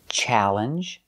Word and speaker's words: challenge: They are spelled A-L-L, but they are pronounced a, like apple. So the sound is al. Some examples, infallible, challenge, and alligator. These are special words because the pronunciation is different. They're pronounced a, together al. So infallible, what does it mean?